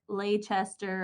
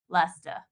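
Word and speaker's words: Leicester: Creek correct pronunciation is Lester yes from visiting this area many times it's not like Leigh Chester or Lai Chester Lester yeah you want to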